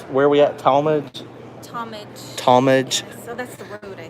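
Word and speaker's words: Tallmadge: Talmadge.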